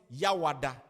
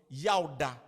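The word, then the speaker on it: Yawda: Now, on Thursday, they call it Yawada. Yawada. And the right pronunciation was Yauda.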